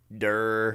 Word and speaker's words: Duerr: how do you spell it? Duerr. Durr.